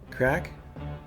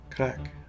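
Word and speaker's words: craic: sling for fun enjoyment by the way it's pronounced the same as CRA oh it is crack crack yeah com source of misunderstand okay well if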